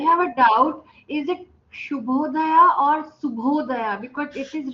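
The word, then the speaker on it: ಶುಭೋದಯ: Next, let's learn some word called good morning is shubhodaya.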